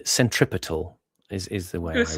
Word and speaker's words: centripetal: I was going to say Centripetal is putting the stress on the third syllable, whereas in English generally the custom is on the first. Centripetal, not centripetal.